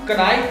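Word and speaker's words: knife: जानना अगला वर्ड है यहां भी एन से पहले के आता है इसीलिए यहां इसको हम नाइफ ना पढ़ते लाइक क्योंकि इसमें के साइलेंट होता है मैरिड का मतलब होता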